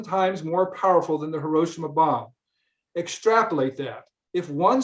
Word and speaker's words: Hiroshima: to pronounce hiroshima because we say hiroshima in english but he said the correct way to say it in japanese is hiroshima think about that for